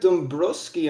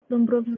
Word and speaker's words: Dombrovsky: Says here you're the son of the village leader, none other than Jedrick Dombrowski. Am I pronouncing that right? it's actually Jedrick Dombrovsky. Jedrick.